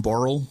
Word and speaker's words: Christian Borle: And so I pronounced it as Borley, Christian Borley, because that's how it's spelt.